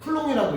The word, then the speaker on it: 쿨롱: 전하량의 단위는 아까 쿨롱이라는 과학자 이름 타서 C라고 쓰고 읽을 땐 C라고 읽으면 안 돼. 쿨롱이라고 읽어야 돼.